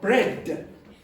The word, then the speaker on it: bread: Okay, so I want you to go bread.